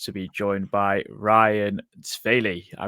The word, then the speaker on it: Svale: I am delighted to be joined by Ryan Svale. I think I got that right, Ryan. I think Yeah, I was good with that Danish pronunciation. Svale in Danish, but it's okay.